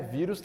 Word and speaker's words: vírus: palavra vírus vírus é vírus tem acento no i' é uma paroxítona ou essa aqui é a última sílaba penúltima sílaba é forte é vírus não é